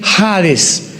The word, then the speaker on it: Hades: Se tradujo la palabra seol con hades, con h, que muchos dicen jades. Se puede pronunciar así porque es en el griego.